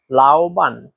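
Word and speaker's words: 老板: এখানে দেখেন এই শব্দটাতে চাইনিজের তিন নাম্বার টুন ব্যবহার করা হয়েছে। আর তিন নাম্বার টন উচ্চারণ নিয়ম হচ্ছে উপর থেকে নিচে আবার নিচ থেকে উপরে।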